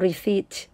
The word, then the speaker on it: receipt: ก็ ใ ห้ อ่ า น ว่ า receipt แ ป ล ว่ า ใ บ เ